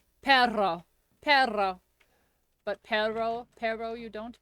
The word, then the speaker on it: perro: No matter what accent, just roll your R's. Perro.